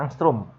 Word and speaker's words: angstrom: gelombang lamda = 5700 angstroms ini dibacanya angstrum ya Ini bacanya Yang from